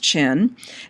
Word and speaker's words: Qin: which by the way qin is spelled qi n but is from it's pronounced chin and it's from his